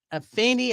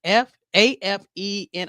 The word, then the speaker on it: Afeni: His mother was Afeni. I think I'm spelling it correctly or saying it correctly. It's Afeni Shakur, and she was a member of the